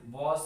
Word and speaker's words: was: बहुत सारे बच्चे इसे बाज प्रोनाउंसिएशन करते हैं, लेकिन इसे बाज प्रोनाउंस नहीं करना है, इसे वॉज कहते हैं।